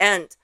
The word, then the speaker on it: 一: E, the character that means number one, usually we would pronounce it as E.